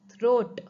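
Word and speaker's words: throat: थ्रोट ROAT रोट, थ्रोट O and A दोनों vowels हैं, तो जो फर्स्ट वॉवल है उसको बोलेंगे एंड सेकेंड वॉवल साउंड बिल्कुल साइलेंट हो जाएगा. तो क्या बन जाएगा? थ्रोट.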